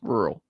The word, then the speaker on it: rural: Rural. That's not how you say it, though. Rural. It's two syllables.